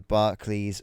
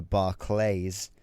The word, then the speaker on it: Barclays: Uh so uh we're going back to 2018, August 19th at the Barclays or if you're American, the Barlays Center. Uh that's right. You guys pronounce it differently to we do.